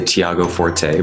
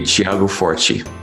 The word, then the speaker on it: Tiago Forte: you say your name depends on the language in English usually people say Thiago Forte but it's a Portuguese Brazilian name and and how do you say in Portuguese it would be Thiago for chief say that again the T sounds like a C like a CH Thiago Ritchie for Qi